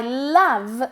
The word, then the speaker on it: love: I love, acordaros, para decir me encanta, decimos I love, pero la O de love se pronuncia como una A. I love this dress.